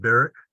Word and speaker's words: Berwick: this District of Maine I guess that's pronounced Barrack over there in Berwick over here just to be confusing so many Scots came